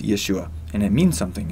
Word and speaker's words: Yeshua: his name in English a lot of people say Jesus but his name in Hebrew is Yeshua and it means something